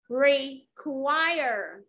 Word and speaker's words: require: Require. Trọng âm rơi vào âm tiết thứ hai.